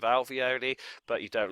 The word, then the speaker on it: alveoli: Ravioli rhymes with alveoli, but you don't like the alveoli.